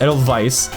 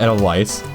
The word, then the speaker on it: Edelweiss: Yes, it is pronounced Edelweiss, not Edelweiss.